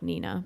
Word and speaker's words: Nina: So Nina Jo Schmale, spelled like Nina, but it's Nina, so don't fuck that up, guys.